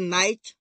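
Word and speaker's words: knight: जब के बाद एंड आता है तो कह साइलेंट रहता है ऐसा बोल दिया वन नाइट नाइट में और आपके हैं और इस नाइट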